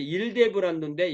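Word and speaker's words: Ildebrando: 이게 이제 일데브란도인데 영어로는 힐데브란트입니다. 그러니까 이 라틴어 이탈리어에는 이 H 발음이 잘 없다는 걸 알 수가 있습니다.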